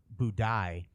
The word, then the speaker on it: Budai: Century Chinese folk hero by the name of budai BU u d AI I think that's how you pronounce um in uh Chinese